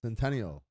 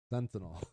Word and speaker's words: Sentinel: say it fentanyl islands centennial sentinel yeah like fentanyl yeah exactly um but